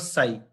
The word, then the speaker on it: psi: Then just like this symbol, this is called psi. P is silent in this.